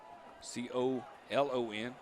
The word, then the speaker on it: Colon: Could be Colon. C-O-L-O-N.